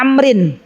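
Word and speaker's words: عمرو: Arab itu Umar Ya tapi kalau penulisannya Ain mim ro Waw ada wawunya maka itu dibacanya Amrin ya sama-sama namanya Abdullah Bapaknya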